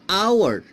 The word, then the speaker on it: hour: also an elephant an hour an hour its H is consonant later but this H is silent it is silent we pronounce our only